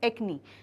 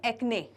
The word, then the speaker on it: acne: That is known as एक्नी। ठीक है, अब कई लोग इसका प्रोनाउंसिएशन करते हैं एक्ने, एक्ने, बट इट इज़ a wrong pronunciation. एक्ने नहीं होता, एक्नी होता है।